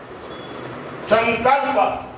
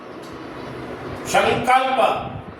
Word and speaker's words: संकल्प: अंग ये पांचवा वर्ण तो यहां न उच्चारण नहीं होगा म भी उच्चारण नहीं होगा अंगा की ध्वनि आएगी। अंग भी पूरा नहीं है। आधा है। इसलिए संकल्प संकल्प ऐसा आएगा।